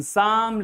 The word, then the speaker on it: psalm: So, eighth rule says that if there is a P just before S, the P is going to be silent. You are not going to spell the sound of P.